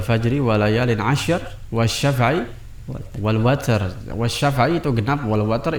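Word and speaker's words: وتر: walayalin asyr wasyafa'i wal watar. Wasyafa'i itu genap, wal watar itu witir, ya, ganjil. Makanya ada beberapa qiraat itu mengatakan wasyafa'i wal witir, ya. Kalau tidak salah dalam qiraat Hamzah dibacanya seperti itu, wal fajri walayalin asyr wasyafa'i wal witir, ya.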